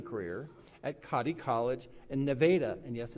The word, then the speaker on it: Nevada: After graduating, she will continue her education and running her running career at Kotti College in Nevada, and yes, it's pronounced Nevada, Missouri.